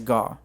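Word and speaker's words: Gaugh: his name bud g-a-u-g-h i don't know how to pronounce it i think it's gah but i'm also assuming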